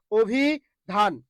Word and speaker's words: অভিধান: এই যে রসই আছে এই রসই এর আগে যেটা অ আছে এই অ এর উচ্চারণটা কি করবেন ও করবেন এই যে ও ভি ও ভি ও ভি ঠিক আছে এই যে ধান ধানে ধাক্কা খাচ্ছেন যেখানে ধাক্কা সেখানেই হস অভি ধান অভি ধান ওকে তারপরে বক্ষ খেয়াল